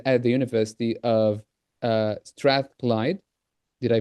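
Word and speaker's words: Strathclyde: So Gemma is an EAP program coordinator at at the University of uh Strath Clyde. Did I pronounce it correctly?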